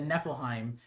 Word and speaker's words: Niflheim: And then people are like, it's Niflheim. And I was like, what?